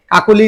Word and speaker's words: কাকলি: অ এর ব্যবহারে আমরা কাকলি লিখলাম তাইলে কা এটা উচ্চারণে কা ও ক ও লি কাকলি আমরা একটা শব্দ কাকলি